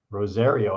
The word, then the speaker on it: Rosario: Is it pronounced Rosario or Rosario? Rosario, I believe. Is it with the Z sound? I think it's a Z.